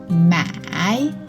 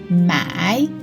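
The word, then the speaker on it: 买: This character, the tone is the third tone, and this one, the tone is the fourth tone.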